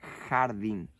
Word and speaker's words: jardín: La palabra, por ejemplo, jardim, en español se pronunciaría jardín.